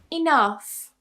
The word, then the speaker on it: enough: In some cases towards the end of a word, gh is actually pronounced as f.